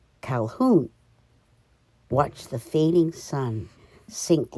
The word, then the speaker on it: Calhoun: early october 1946 and and i can't believe i pronounced my name wrong calhoun watched the fading sun